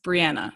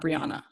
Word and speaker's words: Breanna: So Yeah, cuz it's Breanna not Breonna.